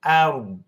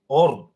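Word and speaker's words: الأرض: tusawwa lau tusawwa bihimul ard bihimul a a bukan o ord tapi ard ditahan tidak ada un-nya seakan-akan kita bilang ardu tapi hilang un-nya jadi ard jangan sampai Hanya di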